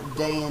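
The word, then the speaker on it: Daein: Oh, how Dayan has fallen. Yeah, I pronounce it Dayan.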